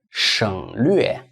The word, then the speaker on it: 省略: So 省略. 省略. 省略. Well, hey, 省略. So this is how we spell it.